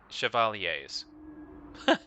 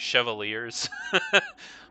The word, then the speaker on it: chevalier: was turned back by chevaliers. In previous episodes, I was calling that chevaliers. But apparently it's a French word.